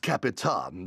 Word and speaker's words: Captain Hero: It's pronounced Capitan. The hero is silent.